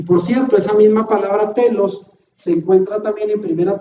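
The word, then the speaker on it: τέλος: la pongo en griego y entre comillas se pronuncia telos según el diccionario strong strong griego es la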